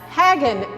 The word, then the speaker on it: Haggin: Susan overt at the Hagin Museum she says pronounced like wagon you've got it all